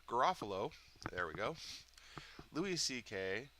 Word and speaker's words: Garofalo: How come I can't pronounce her name? Garofalo.